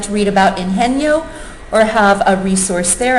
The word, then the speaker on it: Ingenio: And one of the most interesting incubators that I've been to is called Ingenio, I-N-G-E-N-I-O, which is the Spanish pronunciation of the word ingenious.